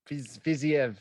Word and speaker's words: Fiziev: How do you say his name? Fiziev. Hang on a second. I wrote it phonetically. Fiziev. There you go.